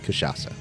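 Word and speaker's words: Cachaça: Kashasa. Yeah, I'm sure that he appre appreciates your correct pronuncification.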